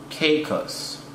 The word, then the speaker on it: Caicos: By the way, it's pronounced Turks and Caicos.